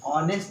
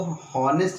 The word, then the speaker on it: honest: देखिए, ऑनेस्ट को हॉनेस्ट नहीं पढ़ना है, हम लोग को ऑनेस्ट ही पढ़ना है। ठीक है, हमें क्या पढ़ना है, ऑनेस्ट। क्या, ऑनेस्ट, हॉनेस्ट नहीं करना है, एच जो है इसका साइलेंट है।